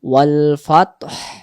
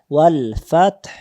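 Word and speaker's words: والفتح: যদি কেউ আমরা বলি ওয়াল ফাত, জি। হায়ের উচ্চারণ আসে না, হায়ের জি। উচ্চারণ না ভেসে আসবে ওয়াল ফাতহ।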